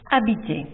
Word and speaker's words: habiter: Habiter, to live. You can hear the H is silent in this case, which means the S's in the personal pronouns need to be pronounced.